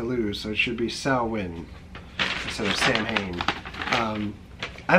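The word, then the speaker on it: Samhain: It says Sam Hain is not pronounced Sam Hain. It is pronounced sow, as in you can't make a silk purse out of a sow's ear.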